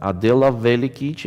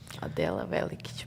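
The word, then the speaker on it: Adela Velikić: Board number 11, Adela Velikic against Olga Badelka. Nice pronunciation. Adela Velikic, bravo.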